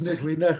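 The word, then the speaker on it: Kneale: Oh, that's why it sounds strange to me because it's pronounced Nickley.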